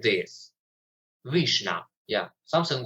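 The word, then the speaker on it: vişne: It's pronounced like this, vishna.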